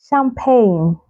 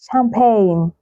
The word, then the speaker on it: champagne: So you say align, rain, rain, foreign, foreign, champagne, champagne, not champagne, champagne. The silent letter G can also be found in words that have the letter G come before the letter H.